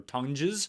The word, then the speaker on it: Tonges: Yeah, maybe, or Tonges, as he likes to pronounce his name, which doesn't make any sense. That's not how anyone pronounces any name. Tongs is what we're going to go with, because that actually is how it's spelled. I don't care how you think you pronounce it. It's not how it's pronounced.